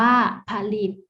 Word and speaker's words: ผลิต: หอ หีบ อยู่ ด้วย เช่น ผลิต อ่าน ว่า ผลิต ป่ะ ล่ะ ก็ อ่าน ว่า